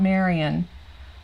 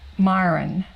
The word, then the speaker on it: Myron: No, it's not Marion. Myron.